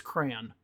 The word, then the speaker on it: crayon: Okay, how do you pronounce crayon? 1 syllable, like man.